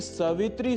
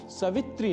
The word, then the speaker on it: सावित्री: अंत में ओम श्री सावित्री सूर्य नारायण नमः ओम श्री सावित्री सूर्य नारायण नमः यहां सवित्री नहीं सावित्री यह उच्चारण करना होता है।